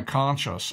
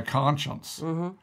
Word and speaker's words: conscience: word that we often I often mispronounce when I try to say conscience I say my conscious I mean my conscience right okay or is